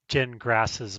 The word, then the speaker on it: Gingras: GPT like links to Jen Grass's blog. It's pronounced gin like you drink and grass like you mow.